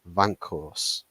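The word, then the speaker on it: Weghorst: You got to just pronounce it like it's a Dutch name. Vankhorst.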